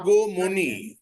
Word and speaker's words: Agamani: Agomoni. When a Bengali name is pronounced, you put Rashagulla, O. So Agomoni. A becomes O.